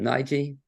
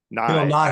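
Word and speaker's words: Nighy: Nige, is that how you pronounce it? Nye, actually.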